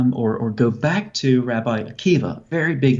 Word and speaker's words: Akiva: go back to Rabbi Akiva, very big name, obviously. I'm sure most people watching are familiar with Rabbi Akiva, once again spelled with a B-A at the end, but pronounced with a V.